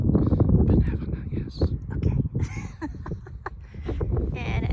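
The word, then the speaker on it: Binevenagh: Benevena, yes.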